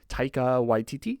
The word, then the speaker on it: Taika Waititi: another gentleman who I don't know how to pronounce his name, but I try. Taika Waititi.